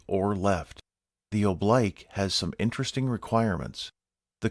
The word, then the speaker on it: oblique: While the proper pronunciation in English is oblique, the U.S. military uses oblique.